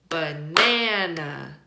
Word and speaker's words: banana: Banana, banana. We stress the second syllable because that's how we say that word in American English, banana.